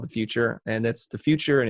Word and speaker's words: The Futur: Then I started this other company called The Futur, and that's The Futur, and it's spelled The Future without an E.